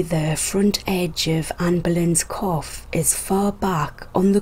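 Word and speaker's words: coif: the 17th was the cough quite quaff i will be pronouncing it cough it's quite simply a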